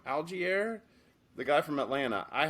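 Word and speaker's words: Allgeier: to do you got Tyler algiere I think it's how you say his name algae air the guy from Atlanta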